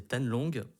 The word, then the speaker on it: Thanh Long: Mais normalement mon prénom c'est Tan Long et qui s'écrit T-H-A-N-H, plus loin L-O-N-G.